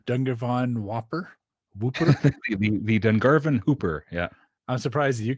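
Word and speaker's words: Dungarvon Whooper: It's the Miramichi, and it's the Dungarvan Hooper, not the Dungarvan.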